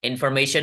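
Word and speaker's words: information: लोग ध्यान से सुनेंगे इन इन इन एक वेबल साउंड आपको सुनाई दे रहा है फर फर फर अ अ दूसरा सुनाई दे रहा है मे ए ए तीन सुनाई दिया शन शन अ अ यानी टोटल चार है गुड अब आपको समझ में आ रहा है इंफॉर्मेशन में चार सिलेबल्स आप लोग सही थे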